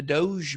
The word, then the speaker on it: Doge: what investing Doge a coin I love that pronunciation oh it's Doge yeah I get to know it's okay we